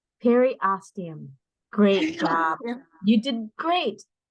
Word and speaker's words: periosteum: Peritinosium? Periosteum.